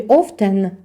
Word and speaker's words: often: У слові often. Літера Т не читається, глуха.